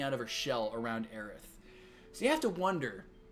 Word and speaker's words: Aerith: ith in english lettering it was always aerith not aries so i'm eric the